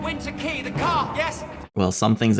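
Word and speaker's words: Winter Quay: Oh, Winter Key. That's how you pronounce that.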